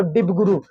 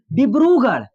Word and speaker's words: डिब्रूगढ़: रहा है ना, तो डिबगुरु, क्या डिबगुरु है ना, डिबगढ़ है ना, क्या हो जाएगा बाबू, डिब्रूगढ़। सी इज the right answer, pronunciation थोड़ा गलत हो गया, डिब्रूगढ़, क्या हो जाएगा इसका